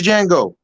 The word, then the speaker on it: Django: it was who played django the d is silent in that movie oh